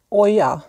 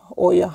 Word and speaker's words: Hoya: Det är så här, videon kommer att handla om Oja, stavas H-O-Y-A, Oja. Men H uttalar man inte, utan det är lite sådär spanskt så man hoppar över det och säger Oja.